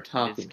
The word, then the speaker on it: Takumi: He has crits for Takumi. That's the correct pronunciation.